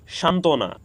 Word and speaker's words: সান্ত্বনা: ফলার উচ্চারণ হয়নি উজ্জ্বল সান্ত্বনা এখানে যুক্ত ব্যঞ্জন বর্ণের সাথে ফলা যুক্ত হওয়ার কারণে এখানেও ব ফলার কোন উচ্চারণ হয়নি আমস সত্য এখানেও যুক্ত